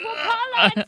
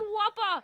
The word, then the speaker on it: Wala: this tree Whopper listen my name is Wala not Whopper say it right I said I said